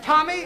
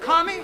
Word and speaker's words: Tommy: right but you did you could have told him it was Tommy instead of tomie I know now say